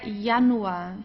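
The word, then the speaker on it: Januar: Julia okay Julia there yanu here also okay de yanu we never pronounce it as the English J not Julia or so de yanu or here Yung Yung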